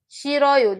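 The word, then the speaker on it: 싫어요: Why is the H there? Guys, in pronunciation, you're not hearing H. I'm saying shiroyo. This is basically what I'm pronouncing. Shiroyo. Shiroyo. Like I don't like something. Shiroyo. But in spelling is the reason I wrote that H there.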